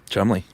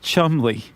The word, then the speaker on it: Cholmondeley: led by um Ewen Montagu and um Cholmondeley.